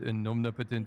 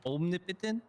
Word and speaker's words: omnipotent: I would just also like to say the emphasis is not on the potent omnipotent. It's it's on the omnipotent. Om omnipotent. Yeah, it's omnipotent. Omnipotent. Okay, thank you so much. Not omni potent.